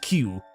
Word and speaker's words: queue: You can always look through the shop window and see the how does one pronounce that word? Oh, it's just queue.